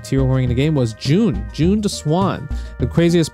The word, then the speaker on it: Jun: waifu two June uh rhymes with tune and I played June